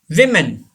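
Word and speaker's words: women: विमेन. जी, ये आसानी के लिए वीमेन. सिंगुलर फॉर्म में वुमेन पढ़ा जाता है, लेकिन प्लूरल फॉर्म में हम इसे विमेन पढ़ते हैं.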